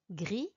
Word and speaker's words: gris: Gris, vert, violet, blanc. I didn't pronounce the S, the T, or the C at the end of these words. In French, we call them silent consonants. We just don't pronounce them when they come at the end of a word.